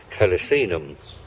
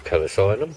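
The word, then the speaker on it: calycinum: And what I'd like to bring your attention to is this, which is lovely, Rosa Sharon, or Hypericum calicinum, or calicinum, whichever way you want to pronounce it, and related to our Hypericum hiccup that we've got at home.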